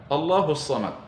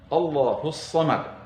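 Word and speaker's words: اللَّهُ الصَّمَدُ: Tadi ada bacaan Allahus Samad. Di sana ada tasydid. Harus sesuai bacaan kita, harus benar bacaan kita. Allahus Samad. Jadi huruf sadnya betul-betul bertasydid. Ada yang membaca Allahus Samad, maka tentu bacaan itu keliru, meskipun tidak membatalkan solatnya.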